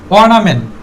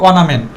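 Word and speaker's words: ornament: honest man এরপরে আছে অনামেন্ট অথবা সংক্ষেপে বলতে পার অনামেন্ট এখানে আরটা সাইলেন্ট থাকবে অনামেন্ট আর এর পরে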